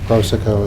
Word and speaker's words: Prosoco: Is that how you say it, Prosoco? We say it many different ways. Prosoco is the one. Prosoco. The normal pronunciation.